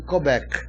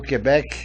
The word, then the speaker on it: Quebec: Na verdade eu estava com eles em Quebec, ou Quebec, depende da briga, né? Essa pronúncia, eu estava com eles em Quebec.